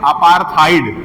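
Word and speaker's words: apartheid: अपार्थाइड। क्या कहते अपार्थाइड का स्पेलिंग लिख लीजिएगा।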